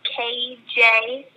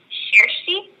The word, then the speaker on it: Kjersti: It's originally pronounced Kjersti, but since we're in America, no one would ever look at my name and say that. So here it's pronounced Kjersti.